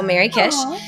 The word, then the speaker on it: MerryKish: Well, I am on most major social channels, Twitter, Instagram, Blue Sky, under my name, but it's spelled MERRYKISH. So Mary Kish.